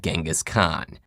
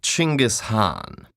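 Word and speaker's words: Chinggis Khan: on I see your honor is familiar with Genghis Khan the 13th century warlord whose military campaigns killed millions and left nothing but destruction in their wake objection first of all it's pronounced chinggis Han really in Mongolia yes regardless he was one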